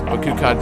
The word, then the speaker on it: Bakukad: You can pronounce Bakukad just like Bakugan.